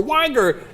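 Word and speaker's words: Uygur: I left my name as Jank Yuger. It is impronouncable. and it starts with a C and it's pronounced Jenk and the other nick Yugger or Uger or Wigger.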